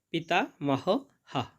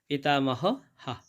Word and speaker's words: পিতামহঃ: এবং শেষে আছে পিতা মহ হা। কেননা এখানে বাক্যের শেষে বিসর্গ রয়েছে, তাই জন্যে শেষের বিসর্গার উচ্চারণটা পুরো হয়ের মতো হবে, পিতা মহ হা।